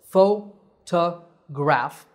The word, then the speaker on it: photograph: There are 3 syllables, photograph. The stress is on the first syllable, pho. So, photograph.